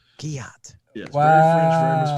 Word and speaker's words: Guillotte: It's Guillotte. Guillotte. Yes, Wow. very French, very mispronounced.